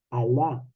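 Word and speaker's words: Allah: Dios ese el Dios es al y la en árabe al y la cuando se junta se pronuncia al el Dios alá Entonces Mahoma habla de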